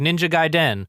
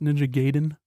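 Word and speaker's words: Ninja Gaiden: your time it's like ninja guyen ninja gayen uh the music's really dope excuse me it's pronounced ninja gayen okay sorry sorry please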